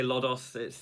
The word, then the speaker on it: Lodoss: it's a little bit some people say low dose i say lodos it doesn't really matter it's a cool game